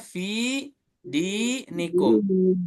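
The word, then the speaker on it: فِي دِينِكُمْ: Dan yang kedua adalah contohnya fi di nikum. Fi kasroh ada ya sukun. Di depan di kasroh ada ya sukun. Fi sama di 2 harokat di ayun.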